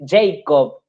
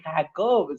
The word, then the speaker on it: Jacob: en la pronunciación que cuando tienen que pronunciar Jacob, le dicen Jacob, porque dijo el Señor a Jacob. El cura agarra y mira como diciendo, es Jacob, sí, Jacob.